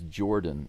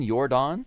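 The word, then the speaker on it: Yordan: Do you mean Yordon? Yordon spells his name with a Y in case in case you don't know. I think you you you often spell it Jordan, but it's Yordon.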